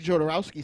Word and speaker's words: Jodorowsky: dune am i saying it right i think jodorowsky said it differently yeah so jodorowsky's dune he